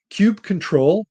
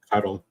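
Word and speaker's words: kubectl: on our local machine there's Cube control I think is how that's pronounced k-u-b-e-c-t-l so that allows us cuddle I'm sure there have been fisticuffs over the correct pronunciation of that and if I'm screwing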